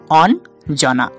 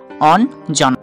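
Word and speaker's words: অঞ্জনা: আমরা কি উচ্চারণ করি হ্যাঁ এই বানানটা আমরা উচ্চারণ করি অন জনা অন জনা তাহলে আমরা বুঝতে পারছি ইয় টাও দন্ত ন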